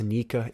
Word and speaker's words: Nika: the translation for joy boy it says it's pronounced nica in japanese so sun god nika and joy boy are the same thing and